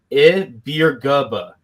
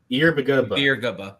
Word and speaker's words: Ibaragba: So just according to the game notes for UCF versus SMU, the way you pronounce Metin's last name is Ibaragba. Ibaragba.